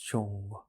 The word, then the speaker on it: Zhong: Entonces esta es la idea de Zhong que tenemos que tener cuando pronunciamos Zhong. Entonces la forma de pronunciarlo es NG, lengua tocando el paladar superior, hacemos vibrar el centro de la cabeza.